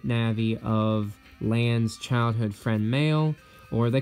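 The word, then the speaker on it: Mayl: of land's childhood friend male or they call her meloo in the manga because that's just how her japanese name is uh translated but it's pronounced male and yeah they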